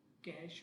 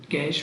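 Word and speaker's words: cache: Primary memory की जो तीसरी टाइप है उसे हम कैश मेमोरी कहते हैं। इसे समटाइम्स कैशी मेमोरी भी लोग बोलते हैं, लेकिन इसकी सही प्रोनाउंसिएशन कैश मेमोरी है।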